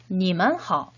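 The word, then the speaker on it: 你们好: 니만하오 라고 표현을 하죠. 역시 3번씩 한번 발음해 보도록 하겠습니다.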